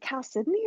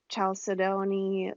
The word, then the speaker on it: chalcedony: I want to say it's chalcedony. That's the way I've always said it, but like I'm no geology expert, so I could be mispronouncing it. But I do think it's chalcedony. Okay.